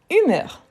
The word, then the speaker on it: humeur: Donc, oui, c'est un mot féminin qu'on dit l'humeur. Donc, c'est un H muet.